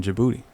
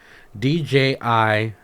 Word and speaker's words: Djibouti: it it's spelled differently d-j-i-b-o-u-t-i but how do you pronounce it uh let me see i've heard people call it djibouti i've heard people call it your booty i think that d is silent it is yeah